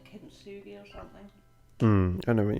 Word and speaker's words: kintsugi: Well, maybe it's a bit like, I can never remember exactly how to pronounce it. Like kintsugi or something. I know what you mean. Yeah, kintsugi.